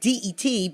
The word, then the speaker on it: debt: And debt is DEBT, pronounced like DET, but it's DEBT.